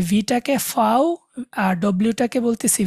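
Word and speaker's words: Vau: বলে আবার বলে উ, ভিটাকে ওরা বলে ফাও, ফাও, এফ এর মতো একটা উচ্চারণ হয়, ভিটাকে বলে ফাও, আর ডব্লিউ যেটা ওইটাকে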